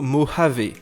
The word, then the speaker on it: Mojave: le nom de code ne se prononce pas moya vos mots jav mais plutôt mojave alors la principale nouveauté